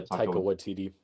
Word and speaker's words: Taika Waititi: Yeah, Taika Waititi.